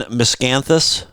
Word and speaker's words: Miscanthus: have anything else on Miscanthus Earl did I pro did I pronounce it right there was yep yeah you got it giant Miscanthus all right